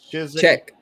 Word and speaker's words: Czech: Czech. No, it's just Czech. The Czech Republic. Yeah, the Z is silent. Yeah. So is the damn Z. There ain't no Z in Czech.